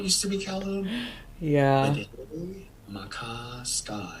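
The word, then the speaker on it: Maka Ska: Makaska.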